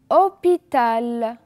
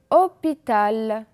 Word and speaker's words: hôpital: répéter heureux j'ai aussi hôpital hôpital on a encore le mot habité répéter habitées et le mot 8,8 et enfin le mot heures heure vous allez remarquer que le h ne se prononcent pas comme dans sommes heureux